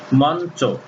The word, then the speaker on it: মঞ্চ: উদাহরণ যেমন মঞ্চ, এখানে ন হস্যন্ত চ উকার হয়ে গেছে, তাহলে ইয়ের সঙ্গে চ